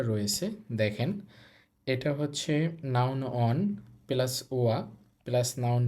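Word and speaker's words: は: দেখেন এটা হচ্ছে নাউন ওয়ান প্লাস ওয়া প্লাস নাউন টু প্লাস দেস। এটা মূলত আমরা এর আগে হাি পড়েছি। কিন্তু যখন এই হা এটা পার্টিকেল হিসেবে বসবে তখন এটার উচ্চারণ হবে ওয়া।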